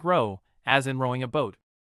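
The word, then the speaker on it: เรา: Row. Men use this in casual friendly settings. Pronounced like row as in rowing a boat.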